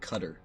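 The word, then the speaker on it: Qatar: operated in that region apparently they call it cutter that's weird it is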